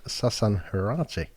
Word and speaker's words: Sasan Heirati: Today's podcast is sponsored by Ivy Hotel and Suites, and with me today is Sasan Heirati. Hi, John. I've pronounced that right.